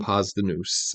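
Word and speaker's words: Posdnuos: It's spelled different. It's spelled, let me see. I have the thing open here. Let's see if there's, Postdnuos. Okay. Pasta Noose is how you say it.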